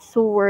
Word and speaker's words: sower: is used for easier threading especially by those sowers with poor eyesight by the way it's not see where or how do you pronounce it so where it's so words source as in s o